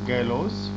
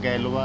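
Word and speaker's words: Galois: Word was coined by गैलोस। Pronunciation का गैलवा है, गैलवा।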